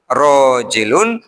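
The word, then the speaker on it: راجل: Imam albhari kemudian memberikan terjemah rojilun maknanya adalah qoimun. Bukan rojulun ya. Rojulun laki-laki. Ini rojilun ada alif. Jadi bahasa Arab itu istimewa nyelapna alif beda diganti artinya Bu ya bacanya ya jadi beda.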